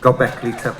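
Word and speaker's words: Göbekli Tepe: Come on, just Go Beckley Tubby. It's not how the Turkish people pronounce it. It's how I pronounce it in London.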